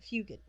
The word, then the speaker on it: Fugate: it up go ahead fugate su GA te I believe most people pronounce it few good women pair is about